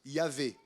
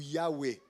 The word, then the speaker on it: Yahweh: nom propre de Dieu qu'on pense qui se prononce Yahvé ou Yahweh.